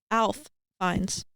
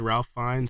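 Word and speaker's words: Ralph Fiennes: You don't You don't pronounce the R in Ralph. Ralph Fines. Really? Yeah. I learned that recently. I said Ralph Fines and then I learned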